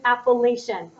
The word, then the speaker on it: Appalachian: in the Appalachian Mountains what rhymes with Appalachian proclamation of 1763 same year